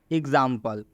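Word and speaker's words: example: एग्जाम्पल, एग्जाम्पल में एक्स का उच्चारण गज से हो रहा है।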